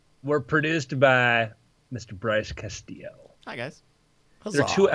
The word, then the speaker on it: Castillo: Bryce Castillo. Hi, guys. Huzzah. There are two L's, but you don't pronounce them. You just say they're silent. They're should be like a Y.